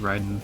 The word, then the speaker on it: Raiden: with Mortal Kombat and apparently that's the only place you would ever pronounce it Raiden is from Mortal Kombat. Apparently, it's always pronounced Ryden for everything else.